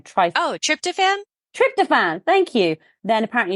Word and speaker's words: tryptophan: people also crave ice cream and I can't pronounce this tri t y p t fan p h n Tri oh tryptophan tryptophan thank you then apparently you should be